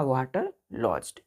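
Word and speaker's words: waterlogged: Pronunciation होगा वाटर लॉज्ड।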